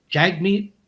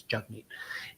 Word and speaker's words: Jagmeet: consistently um consistently calls jug me Singh Jag meet the pronunciation the correct pronunciation of his first name first name is jug me and so he does